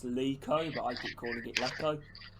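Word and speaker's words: Leko: name really you know i've been told a lot like to pronounce leeco but i keep calling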